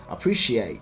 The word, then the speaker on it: appreciate: is appreciate appreciate appreciate you can glottalize the tea by saying appreciate you don't have to say the tea appreciate appreciate number three camouflage common